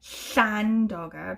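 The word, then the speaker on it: Llandoger: land auger trowel but it's spelled like the way that welsh names are spelled like with the llan at the beginning so it should be shan dogger but you know it's in england i don't mind do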